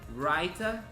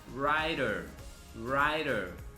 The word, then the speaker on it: writer: A gente tem writer por uma pronúncia mais britânica. Se a gente for para o lado mais americano, a pronúncia fica writer.